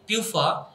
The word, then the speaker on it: PUFA: Similarly, polyunsaturated fatty acids pronounced through the name PUFA, for example linoleic acid, fish oil that having two or more than two double bonds in them.